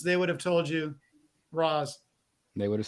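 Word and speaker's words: Ra's al Ghul: me talia's Dad yeah it says Dennis O'Neill created Roz and he pronounces it race oh we're starting fuel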